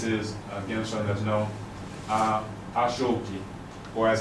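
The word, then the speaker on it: aṣọ òkè: And this is, again, something that's known, Ashoki, or as it's pronounced there, Ashoke, right?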